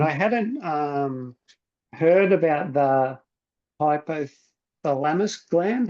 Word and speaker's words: hypothalamus: And I hadn't heard about the hypothalamus gland. How do you pronounce that, Marty? Yeah, hypothalamus.